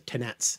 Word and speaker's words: tenetz: be in modern French, but in Norman you would have pronounced the tenets, hence tennis, which means hold, receive, take.